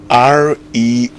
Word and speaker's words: restaurant: R-E-S-T-A-U-R-A-N-T. Restaurant. Restaurant with a T at the end.